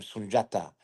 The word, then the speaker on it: Sundiata: So, like you see, my name Sunjata is spelled Sundiata, but that's a J sound.